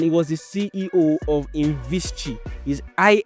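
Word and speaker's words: Invisqi: Now the name of this guy was Imad Khaled and he was the CEO of Invischi is I N V I S QI but that QI is pronounced Chi.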